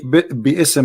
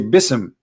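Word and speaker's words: بسم: say you see here you don't say bsm no more here they say bism so it's not an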